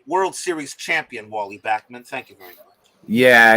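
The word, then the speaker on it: Backman: other famous walles Joiner and pip Moon and bman well Wally bman I'd rather forget about for Wally bman gotta love him can we keep the Wally wave going say it right World Series champion Wally Bachman thank you very much yeah yeah I mean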